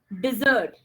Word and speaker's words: dessert: Okay, and now the pronunciation change. Listen to it carefully. Dessert.